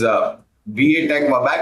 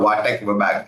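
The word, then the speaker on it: VA Tech Wabag: And that company is VATech Vabag or Vatek Vabag. It depends how you want to pronounce it.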